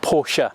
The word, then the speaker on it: Porsche: through this review and not porsha as was commented on quite wildly the last time i reviewed a porsche car i'm not german i never have been german i've never pronounced it porsche i'm not about to start now it's a porsche to me so sorry but tough